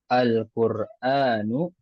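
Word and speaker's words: القرآنُ: Makanya nggak boleh kita baca Al-Qur'anun, ya. Al-Qur'anun salah pembacaan seperti itu. Yang benar Al-Qur'anu.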